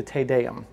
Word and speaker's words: Te Deum: Interestingly, I had a bride request this once for a wedding, and she said, so the Latin Te Deum is spelled T-E-D-E-U-M, Te Deum.